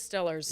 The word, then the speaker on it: Steelers: always Stillers. Yeah. Yes, always. That's how they pronounce it.